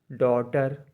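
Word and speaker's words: daughter: H high मतलब ऊंचा डी ए यू जी एच टी ई आर डॉटर मतलब बेटी एफ के धवनी में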